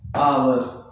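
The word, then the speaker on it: hour: बात करते हैं तो यहां पे जो एच होता है ये साइलेंट होता है। इसका कोई साउंड नहीं होता है।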